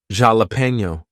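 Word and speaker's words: jalapeño: you will have something like a borrowed word from another language like jalapeno we'll say that with an H sound when we write it with a J but anyway T is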